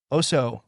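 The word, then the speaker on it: Osiyo: Osio, pronounced. Oso, greetings to a tribal elder, a clan mother, or another person in a high rank in the tribe.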